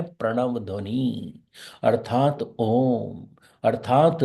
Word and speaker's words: ओम: उसके बाद मैं और इसके उच्चारण करने के सिर्फ तीन ही तरीके हैं पहला हर्ष दूसरा दीर्घ च दूसरा दीर्घ तीसरा प्लूट इसी तरह से करना है या तो ओम बोलना है या ओम या फिर तीन गुना कर